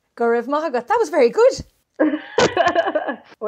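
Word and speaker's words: Go raibh maith agat: In Irish, thank you is Gurevma Agot. Gurevma Agot. Gurevma Agot. That was very good. I won't remember it. I think phonetically I can copy things.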